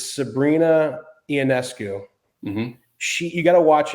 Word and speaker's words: Sabrina Ionescu: This girl, I think I'm going to pronounce her name incorrectly, I bet, but I think it's Sabrina Ionescu.